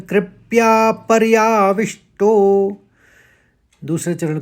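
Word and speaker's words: परयाविष्टो: पहला चरण दो शब्द कृप्या और पर्याविष्टो तो व में आघात है तो विष्टो बहुत ही आसान है आपके लिए अब पढ़िए इसको कृपया पर्याविष्टो एक साथ पढ़ने में कृप्या पर्याविष्टो दूसरे चरण को देखिए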